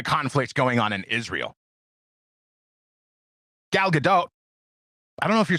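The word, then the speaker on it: Gal Gadot: I think I've heard it pronounced I've definitely heard it pronounced both ways, but I think she hits the T lightly at the end of her last name.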